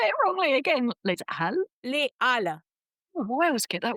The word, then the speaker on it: Les Halles: Les Halles. Oh, I always get that one Les wrong. Halles. Just pretend there's no A.